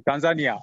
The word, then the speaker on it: Tanzania: Is it pronounced Tanzania, or what's the correct pronunciation? Yes, it's correct pronunciation, Tanzania.